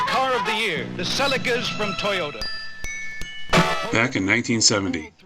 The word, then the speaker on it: Celica: reincarnated as a toyota seleca at least that's how i've heard it pronounced by people in the uk but since i'm from america you'll keep hearing me call it the celica with a huge public